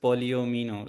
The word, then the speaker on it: polyomino: So the correct pronunciation to this is polyomino. So it's like you can distinguish into two words maybe maybe then it can be easier polyomino but when you just